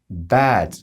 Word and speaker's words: bed: trochę nad słowem Bed Zauważ że wymawiam to słowo jako krótkie embed to słowo może mylić się osobom początkującym ze słowem zły jako zły niegodziwy natomiast to słowo wymawiamy nieco dłużej i też nieco inaczej to jest takie Bed coś pomiędzy A i E natomiast krótkie Bed po prostu zwyczajne łóżko co untold Czy